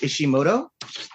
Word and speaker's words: Ishimoto: And notice how I pronounced Ishimoto correctly.